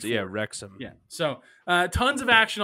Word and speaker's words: Wrexham: Chris riding the Wrexham train.